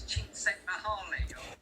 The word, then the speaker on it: Csikszentmihalyi: Can you pronounce that surname? No. I believe it's Csikszentmihalyi.